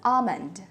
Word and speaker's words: almond: today palm tree bomb all these words have a silent L so this is the IPA for almond so this one is almond calm palm bomb next